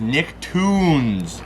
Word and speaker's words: Nicktoons: And then next up here, we got this one in from Don and T-Dog here, and that is Nicktoons. It's spelled like Looney Tunes though.